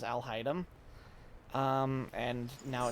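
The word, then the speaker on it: Alhaitham: hide them isn't it I keep saying it wrong I said I'll type altai ham for a long time before I figured out that it was Al haidem um and now it's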